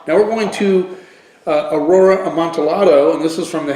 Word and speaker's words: Amontillado: Amontillado. That's how you say it. Amontillado.